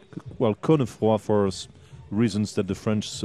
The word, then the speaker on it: Cosnefroy: Good there, well, Benoit Cosnefroy. Cosnefroy. Well, we had somebody ask me on Twitter how to pronounce his surname, whether the S is said or skipped over.